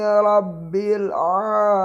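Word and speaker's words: رب: a bukan o&l hamdulillahi rabbil alamin awak Rock bukan rok begitu kalau bisa roknya ternyata di seperti Candil Hai bukan rok rabbil rabbil rokok tapi rok-rok alhamdulillahirobbilalamin labil ah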